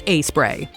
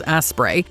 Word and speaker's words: Aspray: number 28 doc bottoms aspray with a name like Doc bottoms and aspray pronounced a spray but easily misread as as spray you'd think this product